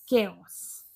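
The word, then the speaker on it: chaos: अब next word है हमारा चाउस। इसको तो चाउस ही पढ़ेंगे। जब मैंने इसको पहली बार देखा था तो मैंने भी चाउस ही पढ़ा था इसको, लेकिन इसकी करेक्ट प्रोनाउंसिएशन होती है केओस।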